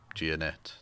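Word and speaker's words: Gionet: goes uh tim tim yeah it's uh timothy giannette that's it's not that difficult to pronounce girl and he goes he goes by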